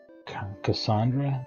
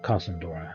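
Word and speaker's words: Kasandora: to help the people in Cassandra. Casendora. Casendora. That's how it's said.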